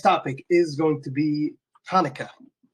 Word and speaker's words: Hanukkah: is going to be Kaneka pronunciation is Kaneka I know kind of a hard pronunciation for people who haven't practiced the sound but that's how it is pronounced in Hebrew so kanah is a